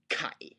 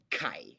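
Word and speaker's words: ไก่: of all that why I think it should be spelled g and not k um because if you spell it with a K the the tendency of the learner is going to be to pronounce it as exactly that a k okay now let's take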